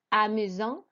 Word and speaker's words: amusant: Then we had number 6, which was amusant. Again, do not pronounce the T at the end.